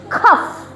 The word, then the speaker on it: cough: Kalau G sama H dibacanya F, jadi cough ya, bukan cough.